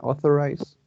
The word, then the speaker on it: authorize: In authorize, I think that it has 3 syllables, and the prominent syllable is the first one, authorized.